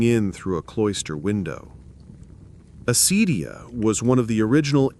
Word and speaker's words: acedia: You'll want to say it like this, acedia.